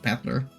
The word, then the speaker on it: Battler: This is made up of the characters fight and person. It's pronounced Battler.